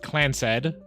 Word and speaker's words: Clanced: Clanced, pronounced Clansed, Trust is a highly unusual corporate arrangement named after Clan Roottrees, who was Elias's son.